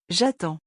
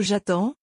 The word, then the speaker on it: j'attends: Notice in the singular, the final day is not pronounced. So j'attends, tu attends, il attend all sound the same.